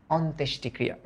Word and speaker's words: অন্ত্যেষ্টিক্রিয়া: ফার্স্টে বলো অন, লেখো অন। Okay, on. তারপরে লেখো, তারপরে কি উচ্চারণ করি? অন্তেশ, তাহলে লেখো তেশ, অন্তেশ। হ্যাঁ, তারপর কি বলি আমরা? অন্ত্যেষ্টি, তাহলে লেখো টি, অন্ত্যেষ্টি। তারপর ক্রিয়া, ক্রি, তাহলে এই যে ক্রি।